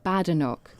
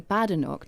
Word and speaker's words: Badenoch: You repeatedly referred in your press conference to Kemi Badenoch.